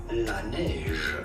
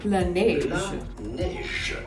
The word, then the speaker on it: Laneige: I use the Water Bank Eye Gel by Laneige. Okay, I'm just gonna Google how you pronounce this. From French, Laneige. Laneige. Okay, so it's called Laneige, and I was almost correct about the pronunciation.